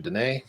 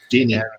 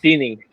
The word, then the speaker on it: Dini: Dene. Hope you're saying it right. Dini. And, Dini.